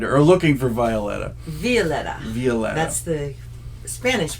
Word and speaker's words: Violeta: did you find her are looking for Violetta Violetta viola that's the Spanish pronunciation where was she she was at the